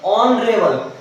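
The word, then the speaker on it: honourable: में horn river नहीं ऑनरेबल यहां पर भी जो हमारी हा है उसे साइलेंट है ओके इसलिए हम इसको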